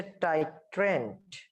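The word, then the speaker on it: titrant: তোমাদের এটা মানে সংজ্ঞা আসে, এই যে বাংলা উচ্চারণটা দেখবা, টাইট্রেন্ড আর একটা হচ্ছে টাইট্রেন্ট। একটা হচ্ছে ডি আর একটা হচ্ছে লাস্টে টি। একটু খেয়াল রাখতে হবে, একটা ডি একটা হচ্ছে টি।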